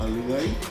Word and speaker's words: Lillet: The Lavender Lily is a vodka, a Lillet. Is that how you pronounce that? Lillet.